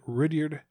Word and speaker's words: Rudyard: I say when I say it sounds like Richard. Like a Richard. You said Rudyard, but either way, it's Kipling.